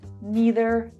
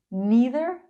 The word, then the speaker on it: neither: There are two different ways you can pronounce these words. Either, either, either, either, either, either. Neither, neither, neither, neither, neither, neither. Both ways are perfectly correct.